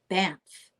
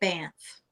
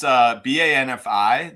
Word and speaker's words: Banfe: It's Banfe, but a lot of people pronounce it Banff. Ah, great. Well, up until today, I always said Banfe, but I thought I would be a little bit conservative and say Banff. Yeah, no, it's Banfi, the original spelling of